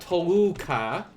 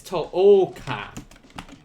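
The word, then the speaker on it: 十日: um it is uh be careful this is not toluca it's tohoka toka versus toka tolka in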